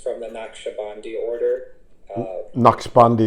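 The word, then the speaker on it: Naqshbandi: the nak shabi order KN bandi is the way I heard it pronounced but what do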